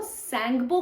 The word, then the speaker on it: Tsangpo: एक रिवर है जो सैंगपो के नाम से ओरिजिनेट होती है। देखो, सैंगपो के नाम से एक रिवर ओरिजिनेट होती है। कहां? सैंगपो का स्पेलिंग ये है, TSANGPO, टी साइलेंट है।